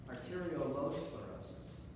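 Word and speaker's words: arteriolosclerosis: spelled Aro L sclerosis so I'm exaggerating l in the middle Aral low sclerosis so this is associated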